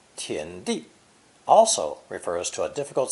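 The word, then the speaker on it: 田: it's land under cultivation this character is pronounced second tone tien as with most chinese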